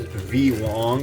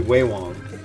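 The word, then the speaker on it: Vewong: But there's also a brand called that looks like it says V Wong, V-E-W-O-N-G. It's actually Wei Wong.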